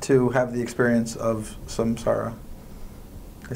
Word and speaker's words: Samsara: So who do you want to have the experience of Samsara?